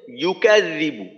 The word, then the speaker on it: يكذب: এমন ভুল না হয় আই আর তৃতীয় শব্দে ইউকাযিবু ইয়ায়ের মাখরাজটা ঠিক রাখা ইউকাযিবু তো এখানে অনেক